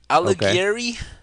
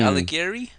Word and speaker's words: Alighieri: supposed to pronounce this it's an italian name alighieri dante alighieri it's not but you